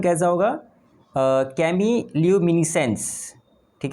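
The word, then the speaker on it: chemiluminescence: इसका प्रोनाउंसिएशन कैसा होगा, कैमील्यूमिनेसेंस, ठीक है, कैमील्यूमिनेसेंस, ठीक है।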